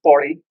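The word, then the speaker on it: Pauri: But it's actually here, the locals call it Pori Gadwal.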